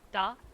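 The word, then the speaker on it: да: is very similar to the word for yes in Russia it's da but they made a point to me to pronounce it softer because Bulgarians pronounce it softer, Russians pronounce it hard and we don't want to sound Russian.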